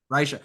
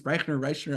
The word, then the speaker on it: Reicher: Reicher. I always think it's Reichner.